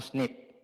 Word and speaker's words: SNP: nucleotide polymorphism on chart SNP or snip maybe pronounce nip so the top today